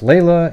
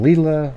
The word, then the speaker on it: Leila: way i'm pronouncing it i've heard it pronounced layla and lila all over the place and we don't need